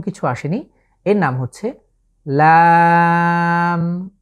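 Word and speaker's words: لام: এর নাম হচ্ছে লাম। বাংলায় যে ল আকার এবং ম, ঠিক সেভাবে আমরা উচ্চারণ করব, তবে এখানে আমাদেরকে 3 আলিফ লং করে পড়তে হবে, লাম, লাম।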